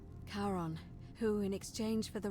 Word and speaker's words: Charon: is a little off the name you heard wasn't karen it was c-h-a-r-o-n as in charon the ferryman of the dead karon who in exchange for